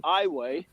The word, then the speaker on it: Iowa: It's actually they pronounce it eyeway.